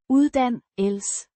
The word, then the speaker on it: uddannelse: Pronounced. Uddannelse.